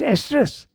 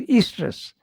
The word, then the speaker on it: estrus: It's pronounced estrus. I thought it was pronounced estrus.